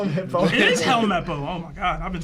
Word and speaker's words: Helmeppo: Helmappo. Help. Hello. Call him Hippo. How do you? He said call him Hippo. It is Helmeppo.